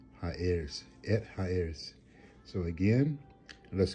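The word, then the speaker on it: ארץ: earth all right or the land heirs is the right way to pronounce that high heirs it hires so again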